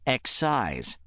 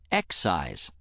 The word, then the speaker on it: excise: Say excise once more. When word six functions as a noun meaning an indirect tax on the manufacturer, sale or distribution of a commodity or service, it is pronounced excise. Excise.